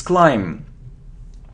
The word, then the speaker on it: climb: it's B it's behave it isn't climb it's climb so we don't pronounce b it's climb okay how will we